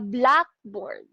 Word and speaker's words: blackboard: to the compound word we can say a blackboard which means a chalkboard so in that where the stress is in the adjective black on the other hand